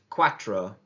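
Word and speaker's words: cuatro: number four in Spanish and listen for the pronunciation because it's the same as what we would in English is Quatro Quatro Quatro Quatro excelente number five in Spanish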